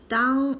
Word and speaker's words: 当: This is a polyphone. It's pronounced as dāng, means to be, when, same, as dāng, means to think, to replace.